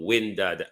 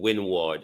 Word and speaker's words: windward: into two areas called windad and lowered. the English pronunciation windward and leeward but we call them windad and lord now lord is my